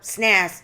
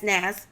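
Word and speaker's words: SNAS: allergy syndrome which is known as s nas or snazz however you want to pronounce it okay i pronounce it as snazz results from an adverse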